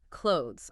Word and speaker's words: clothes: The correct word is clothes, ideally with a very subtle voiceless sound at the end.